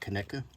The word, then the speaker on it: Conecuh: It's called Conecuh. That's how you pronounce it.